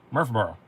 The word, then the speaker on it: Murfreesboro: of nash of nashville we would say murfreesboro but you guys say murph borough and every time you